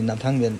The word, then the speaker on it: Gnathang: এন্ডে কিন্তু এটাই জানি নাথাং নাথাং বানামটা ভ্যালিভারের মত ভ্যালি হয় কিন্তু নাথাং এ স্পেলিং শুরু হয় জি দিয়ে জিটা সাইলেন্ট থাকে তো একটা অদ্ভুত জিনিস